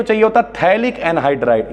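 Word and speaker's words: phthalic: एक तो चाहिए होता थैलिक एनहाइड्रेट इसे पिथाइल ना पढ़िएगा पीस साइलेंट होता है थैलिक अनैड्रॉयड साथ में फाइनल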